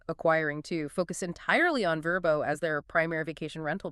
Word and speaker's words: Vrbo: stood up and said, "VBO sounds like a government agency. It sounds like you're filing taxes." It kind of does. Verbbo sounds like a friend. That is almost certainly the logic. Verbbo is a word. It's approachable. It sounds like a verb. Let's verbbo a place for the weekend. Oh, yeah. You can't really do that with let's VBbo a place. It just doesn't roll off the tongue.